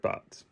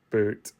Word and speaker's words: Butte: Christmas at Red Butt. To specify, we know that it's pronounced boot, but it's more funny as butt.